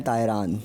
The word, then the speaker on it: Tairan: टी ए आई आर ए एन तायरान।